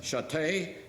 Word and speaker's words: Chaté: Somehow when I said Chaté, people heard, so they automatically became, my name was.